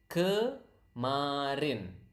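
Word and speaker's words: kemarin: repeat up to me so that you can pronounce the word correctly K Marin natural speed Karin Karin okay that's yesterday now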